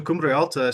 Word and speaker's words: Cumbre Alta: So Cumbre Alta started right around the time that we were leaving Colorado or leaving Illinois to come out to Colorado.